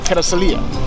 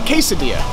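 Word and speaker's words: Carrizalillo: right behind me here called Carasalia, or as many people call it, Quesadilla, because they just can't pronounce Carasalia.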